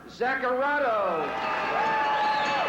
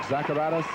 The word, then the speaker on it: Zacharatos: Our winner by technical knockout, Mark Zacharatos. And pronouncing Mark Zacharatos as Zacharato, but still it's a win, and he'll take it either way.